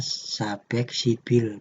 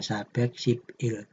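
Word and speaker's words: 사백십일: Il dibacanya beek sibil Kenapa dibaca sabek sibil ya ini di pelajaran sudah kita bahas ketika BB ee ketika Bim atau huruf terakhir yang berbentuk konsonan bertemu dengan vokal itu bjim ini pindah mengisi yang pelengkap ini Jadi dibacanya sabek sibil bukan sabek sipil karena babnya ini pindah ke yang pelengkap seperti itu Nah ini di sini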